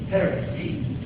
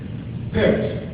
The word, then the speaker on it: Perez: Perez. Yeah, I wanted to say it right. I knew you could say Perez. Perez.